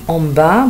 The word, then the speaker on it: en bas: en bas, ما بنطقش الأس, دي معناها في الأسفل أو الطابق الأرضي.